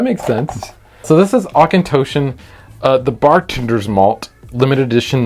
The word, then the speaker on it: Auchentoshan: Please pronounce this for me. Auchentoshan. Really? Yeah. Oh, okay. Auchentoshan.